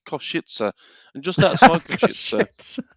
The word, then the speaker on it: Košice: But there's a place called Košice, and just outside Košice, it's how it's pronounced.